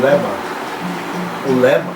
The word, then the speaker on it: Legba: Então quando a gente fala em Leba ou Legba, que é como ela é escrito, Legba, mas como o G é mudo, então nós falamos Leba.